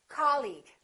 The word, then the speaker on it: colleague: words the second one did you say colleague or colleague he's my colleague that's right once again it's the first syllable repeat after me colleague colleague he's my new